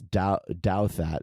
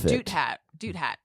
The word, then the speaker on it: Douthat: it's him and Ross Douthat, who I call Doubt Hat. I never know how to pronounce it. I say Doot Hat. It's Douthat, but I call him Douthat.